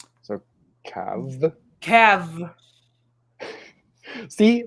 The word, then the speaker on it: Cab: Okay, I just realized it just says Cab is pronounced with a soft VH sound, not a hard B. So Cav.